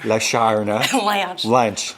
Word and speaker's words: Lashana Lynch: How to pronounce Lashana Lynch? Oh. Go on. Lashana. Lashana Lynch.